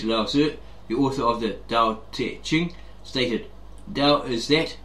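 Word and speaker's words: 道: of this translation however the word dao pronounced dao and mandarin and do in cantonese means the way of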